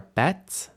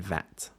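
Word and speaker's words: ב: those are those are bets which can be b or v b with a d v without and we might say bet and vet then also CF CF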